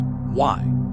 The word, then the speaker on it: way: The Maya belief system centered around the concept of the way pronounced why the spirit companion or co-essence that resided within the human soul.